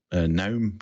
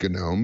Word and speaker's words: GNOME: I believe that's pronounced GNOME because it has a G in front of there, and they always like G things.